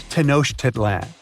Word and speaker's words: Tenochtitlan: Okay, it's Tenochtitlan. And Mayan cities are hard to pronounce too.